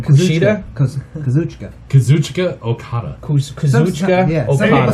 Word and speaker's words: Kazuchika Okada: Kazuchika Okada.